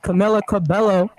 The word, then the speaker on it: Camila Cabello: out the video for butts down messes up Camila Cabello is how you say Camila Cabello debut album